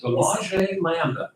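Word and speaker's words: De Lage Landen: Oh, Delage Landon? Delage Landa. Okay. I'm pronouncing it correctly.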